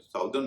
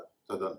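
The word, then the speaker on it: southern: है नॉर्दन और सदन ध्यान दीजिए एसओ यटी एच साउथ जब ई आर लगाते तो साउदर्न नहीं बनता सदन बनता है वर्दी को देखते हुए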